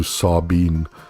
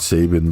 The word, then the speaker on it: Sabin: ayle thank you says in Romanian Sabin is pronounced much closer to sabein sabein Sabin so not Sabin but sain sain badulescu Atlantis